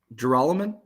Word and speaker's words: Gerolman: Oh, how do you say his last name? Do you know, Ross? Gerolman? Okay, sure. Are you saying that is how you say it, or are you questioning it?